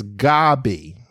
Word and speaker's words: Gaby: Gabby okay well Robin you spelled my name wrong I only have one B it's g a b y I understand I understand that's that seems to be tle typical but it's it's Gabby so Gabby is two